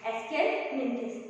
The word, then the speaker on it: Aschelminthes: Today we will discuss about phylum Ascelminthes. आज हम class 11 biology के चैप्टर 4 का एक फाइलम डिस्कस करेंगे. इसका नाम है Ascelminthes. ठीक है, आपको इसका प्रोनाउंसिएशन करना आना चाहिए, Ascelminthes.